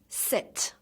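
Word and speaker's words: sept: the final sound this set tees together and say set so the P is silent one more time set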